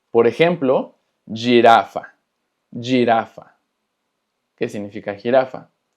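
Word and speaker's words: girafa: Pero muy importante, cuando la G tiene después una I o una E, se pronuncia G y Y. Por ejemplo, jirafa, jirafa, que significa jirafa.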